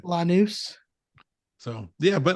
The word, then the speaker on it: Lanús: only purchasing It's not Laanus. you and your pronunciations today are just not on point, Ed. Lanús.